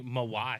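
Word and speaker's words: Mawae: the Hall of Fame 2019 inscription it's actually mawai mawai that's what I was going to say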